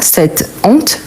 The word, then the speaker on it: cette honte: mot féminin mais attention on ne dit pas C H on dit c honte pourquoi cette honte car c'est un h aspiré donc je ne peux